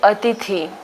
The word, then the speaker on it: अतिथि: और यहाँ पे जो है वो छोटी की मात्रा आएगी, जिसमें हम इसको पढ़ेंगे कैसे? हम इसको प्रोनाउंस करेंगे अतिथि।